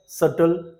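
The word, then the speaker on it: subtle: पहले आता है date सटल doubt debtor नटेड okay यहां पर आपने देखा बी साइलेंट है बी का कोई साउंड नहीं है सी साउंड में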